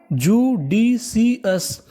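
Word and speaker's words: judicious: अगर आपको इंग्लिश में कहीं पर OUS लिखा मिले तो आपको OUS का उच्चारण करना है अस। क्या करना है, अस, तो मीनिंग बनी JU इसे पढ़ेंगे जू, DIDCIC, तो मीनिंग क्या बनी, जुडीसीएस, जुडीसीएस, जुडीसीएस।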